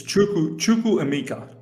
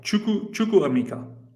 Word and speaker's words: Chukwuemeka: Well, how do you pronounce his name? It's Chukwuemeka. Chukwuemeka. Chukwuemeka.